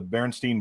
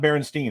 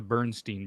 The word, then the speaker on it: Berenstain: It's not Berenstain. It's Berenstain. Stainn. And Bernie so the way it's spelled, Berestain, something like that.